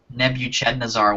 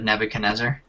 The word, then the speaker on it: Nebuchadnezzar: shank and man shaft my mom said um nebuch chazar one day instead of Nebuchadnezzar uh right here what